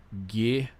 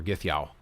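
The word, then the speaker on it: gyðja: for F, Gith, and J's are pronounced like Y's are in English, so that's Ya, just like the word Yow. So Githya, or Githyow. It doesn't have the accent, so I think it's Githya.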